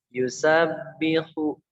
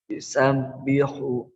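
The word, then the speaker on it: يُسَبِّحُ: Nah, ini tadi yang yusabbihu Pak Andri hunya kepanjangan bacanya. Jadi pendek aja. Yusabbihu.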